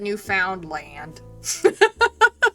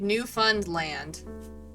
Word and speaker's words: Newfoundland: Don't ever pronounce the sound part. But what about land? Is it Lind or is it land? It's like new fund land.